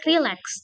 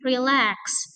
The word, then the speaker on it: relax: Relax bukan relax tapi relax.